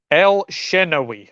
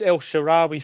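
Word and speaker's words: El Shenawy: El Shenawi, right? That's. I always think it's El Sharawi for some reason, so I'm obviously getting that wrong.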